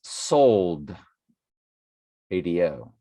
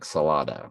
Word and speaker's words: Soldado: It's sold, ADO, like you sold your sneakers. Soldado, Day of the Soldado. So, my apologies for mispronouncing it. I was calling it like Salada.